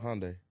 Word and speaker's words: Hyundai: So I went and got a little brand new Hyundai. And Hyundai? Is that how you say it? Hyundai.